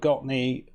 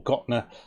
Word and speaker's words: Gottne: tiny Football Club have got knee or got nur sorry keep saying it wrong and trying to take